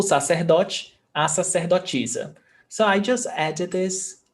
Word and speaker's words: sacerdotisa: And you see that the A is pronounced as the aspiration, seh, but it can also be ser, depending on the accent. So you can say sacerdotisa, that's how I pronounce, but you can also say sacerdotisa, ser, and sacerdotisa as well.